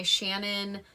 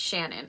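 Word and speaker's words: Ciannon: this is her name i'm pretty sure it's shannon it's c-i-a-n-n-o-n so if anyone if it's not shannon please correct me because i think it's one of those names that can easily be mispronounced but i think i'm right so this book is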